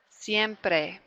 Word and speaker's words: siempre: Siempre. Again, if you can roll your R, try rolling your R right there.